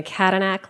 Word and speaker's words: Kadanak: ma'am thank you senator my name is kadanak like cadillac okay and i am a proud dallas county democrat i'm proud constituent of senate district 23.